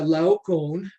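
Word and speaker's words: Laocoön: india and then uh lau cone uh in case you're wondering how to pronounce that person's name that's how i've heard it pronoun pronounced by uh people smarter than me he's a priest of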